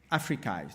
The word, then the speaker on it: AfricAI: Africa we created the africai so it it rhymes with mikai but it means the